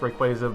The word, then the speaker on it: Rayquaza: number one right quiet and okay it's actually pronounced requested but sometimes if you get that meme you get the meme okay rayquaza is one of my favorite pokemon emerald was